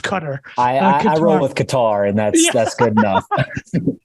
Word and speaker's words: Qatar: Joe did an amazing YouTube video about uh cutter I believe it's pronounced Qatar I've been told by a lot of like people that travel a lot it's like trying to be wrong it's it's pronounced cutter and that's that's good enough uh so I'll